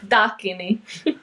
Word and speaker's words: Dakini: Dakini.